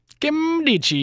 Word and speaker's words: Nkemdiche: Nkemdiche. That's how you pronounce the name, apparently.